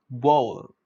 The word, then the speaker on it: bowl: It is incorrectly pronounced as rhyming with owl. People often rhyme this word with owl, which is incorrect. I mean, rhyming is okay, but then for pronunciation, this is incorrect.